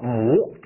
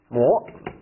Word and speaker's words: 模: M 同余，这个读作模啊，模。OK，那就是